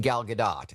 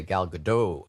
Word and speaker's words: Gal Gadot: it included the amazing Gal Gadot, and that is how you pronounce her name, by the way. The T is not silent.